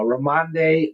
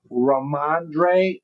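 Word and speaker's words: Rhamondre: Uh uh Ramande Ram Stevenson. Did I say it right? Let's see. Raandre.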